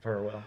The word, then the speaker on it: Farrell: So Farewell. Yeah, we were told. Farewell. Do not mispronounce his name.